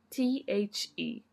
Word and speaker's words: the: For us, it's the word t h e, which has two pronunciations. We can say the or we can say the when. What's the difference? The when the word begins with a consonant. the when the word begins with a vowel.